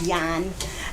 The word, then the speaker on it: Yan: Last name is actually pronounced Yan.